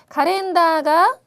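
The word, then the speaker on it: カレンダー: 그 다음에 세 번째, 카렌다가 가까떼 이마스. 카렌다, 이렇게 장음이 나오면은 꼭 한 박자씩 세서 발음을 해야 예쁜 발음이 된다고 말씀드렸죠.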